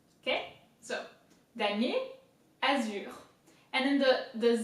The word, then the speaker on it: damier: So damier, same as last time, very easy. We've seen I-E-R, ye, damier, and then azure.